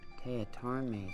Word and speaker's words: Teatime: It's pronounced Teatarme, sir. Everyone gets it wrong, sir. Sorry, Jonathan Teatame.